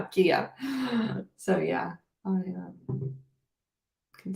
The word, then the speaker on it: Kaya: Kaya confessed to me that I've been saying her name wrong for 2 years. I said Kaya, now Kia.